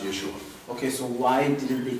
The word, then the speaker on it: Yeshua: We believe that it would be pronounced Yeshua.